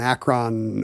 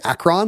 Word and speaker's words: Akron: It's like a doo-wop kind of the Ruby and the Romantics were kind of an Akron R&B group with... Did I just say Akron? Like you did. To rhyme with Dacron?